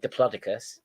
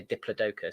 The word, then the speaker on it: Diplodocus: the name funny and it can be pronounced two different ways yeah some people say diplodicus no that sounds boring people say Diplodocus sounds more fun I cuz then you